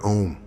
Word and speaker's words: om: wealth home home home it's om pronounced as in home 2.